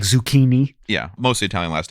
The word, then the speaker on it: Zecchin: so reese hi hello your last name is spelled z-e-c-c-h-i-n it's pronounced zucchini that's weird sounds like zucchini yeah so what um